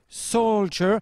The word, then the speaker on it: Solskjaer: Ça se prononce Solskjaer.